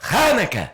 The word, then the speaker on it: Hanukkah: Hannukah. Hannukah. Okay. Hannukah. You gotta spit a little. On Wednesday, we're going to have a special segment on Hannukah because, anybody know why? Cause it's Hannukah and Thanksgiving right in one.